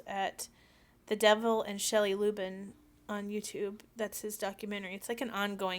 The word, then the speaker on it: Lubben: The lady that started it, her name is Shelley Lubin, Helley, and the last name is spelled Lubben, Shelley Lubin.